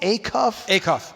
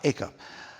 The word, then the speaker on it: Acuff: Acuff. Acuff.